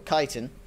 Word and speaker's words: chitin: Or Chitin, as it's actually pronounced.